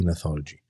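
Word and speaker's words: gnathology: neology with a g g is silent G neology and neologist were had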